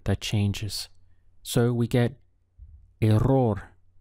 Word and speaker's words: error: changes so we get a roar this is another Double R where you should try to roll your tongue a roar the plural of that